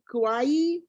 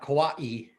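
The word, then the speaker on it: Kauaʻi: it's filling up nicely um how do you pronounce uh it's a it's the hawaiian word that you ai kawaii invasive species committee yep kawaii kawaii okay because i'm going to introduce you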